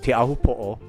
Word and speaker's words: Teahupo'o: So it's going to be a little of a challenge, because it's not an easy word, Teahupo'o.